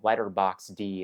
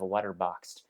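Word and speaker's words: Letterboxd: And that's after I give my friends a hard time for saying letterbox D instead of letterboxed.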